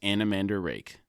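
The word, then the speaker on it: Anomander Rake: and says the nearest way for humans to pronounce his name is anamander rake Brooke is able to put together that the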